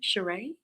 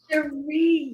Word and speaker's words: Shereé: Shereé. It's like Sheree, like my Sharia Moore, the song. Sheree.